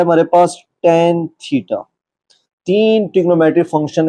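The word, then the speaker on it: tan: इसी तरह सी ओ एस cos theta, T ए एन टेन theta. तो क्योंकि आप फर्स्ट टाइम पढ़ रहे हैं तो प्रोनाउंसिएशन इसकी सीख लें, साइन थीटा, कॉस थीटा और टेन थीटा।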